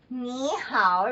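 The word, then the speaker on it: 你好: all of us okay nee hao right so niihau is hello so knee how we don't say it right it's too long because it's two third tones and third tone is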